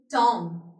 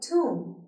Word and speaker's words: tomb: Let me take to Humayun Tom. Is it correct pronunciation? I don't feel like इसकी correct pronunciation है. Let me take to you at Humayun tomb. It is tomb, not Tom.